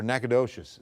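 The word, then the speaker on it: Nacogdoches: This is going to be Nacadish. And then you can also or Nakadocious. See, I always do that because I spent six years in Louisiana. So, it's Nacadish there, Nacadocious in Texas. Spelled the same way.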